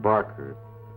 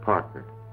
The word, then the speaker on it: Parker: got my name wrong it's not Barker it's Parker I got myself a